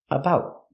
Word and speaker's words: about: The T in about is a stop T. About.